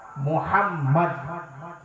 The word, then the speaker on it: মোহাম্মদ: খাবেন কি করে কিন্তু শোনেন আমার নবীর নাম মোহাম্মদ দুটো মিম উচ্চারণ দুটো ম উচ্চারণ করতে হয়।